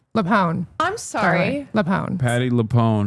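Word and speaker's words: LuPone: Why are people mad at Patty Lew? Leone.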